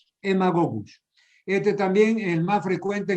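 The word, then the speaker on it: Haemagogus: mosquito del género hemago se escribe con h y aema gogus se escribe pero se pronuncia emagogus este también el más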